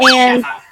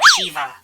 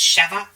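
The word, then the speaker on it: Sheva: I like cheva she's cool um so it's pronounced cheva I I always keep saying Shiva it's cheva I've heard cheva that's how I've heard it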